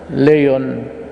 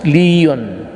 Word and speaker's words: Leon: Ipil Municipal Mayor Anamel Oligario, Labangan Municipal Mayor Eduardo Relacion, Lakewood Municipal Mayor Domingo Mirar, actually others pronounce it Leon, but it's Leon Postigo, Municipal Mayor Aidaros Hambali,